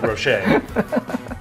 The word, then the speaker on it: Rocher: Oh, sorry, that's mixer pronounced like Rocher. Like Ferrero Rocher. Yeah, that's how you say it.